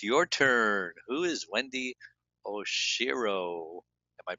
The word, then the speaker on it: Oshiro: Who is Wendy Oshiro? Am I pronouncing that right? Correct. Oshiro.